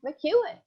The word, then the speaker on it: McKeon: we are with mcewen am i pronouncing your name right you are i could because because it's m-c-k-e-o-n hey maureen i'm